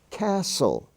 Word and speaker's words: castle: where the S is spelled s t as in Castle she is silent Castle but as I've said they're not really silent it's the spelling form the St stands for just s listen to me l-i-s-t-e-n it's